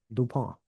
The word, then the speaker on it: Dupont: Dupon. Yes. I didn't pronounce it French enough, but I've had their se which is delicious.